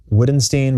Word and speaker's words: Wittgenstein: Now, his name is spelled Wittgenstein, but I think it's pronounced Wittgenstein. I might be wrong about that.